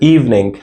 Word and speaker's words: evening: The next we have evening not evening. Evening the I sound is not pronounced it is silent.